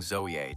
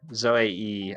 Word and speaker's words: Zoea: I think it's like zoe. Zoey, I think is how you pronounce it, actually.